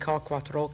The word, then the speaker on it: Quatro: real name is I was born Susan K quatro that's my real name my father is Arthur